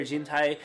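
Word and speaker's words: 人体: Jintai means human body. Along this way, we can also guess how it's pronounced. The first kanji has a number of pronunciations, one of which is jin, which is actually the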